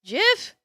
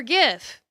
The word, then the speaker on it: GIF: It's like either pronounced GIF or GIF. The answer is both.